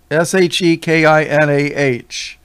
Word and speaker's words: Shekinah: Shekinah. There might be other ways to spell it. With the emphasis on she, S-H-E, Shekinah, which they'll tell you, oh, that's the glory of God.